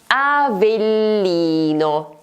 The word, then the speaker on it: Avellino: The correct option is the third one, in fact in this word there is a double consonant: Avellino. There is the double L.